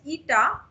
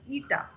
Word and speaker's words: eta: a constant with me that is pronounced as eta. This, if I have to pronounce it, this is pronounced as eta.